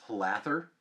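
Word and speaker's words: Hlather: h l a t h e r is pronounced hather and and that's another wizard seemingly from the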